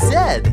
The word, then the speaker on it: Z: It rhymes with G and P and V.